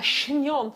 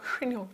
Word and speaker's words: chignon: But you know when you say, it's French, Adam. A chignon, not like a cinnamon swirl, just more of a, like that. You know what I mean, a chignon. You have to say it like that as well, chignon.